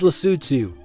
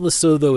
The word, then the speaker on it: Lesotho: It's Lutu, by the way, not Lasso as most tourists butcher it.